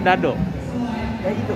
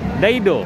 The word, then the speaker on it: Daido: Bacanya apa Dado? Daido.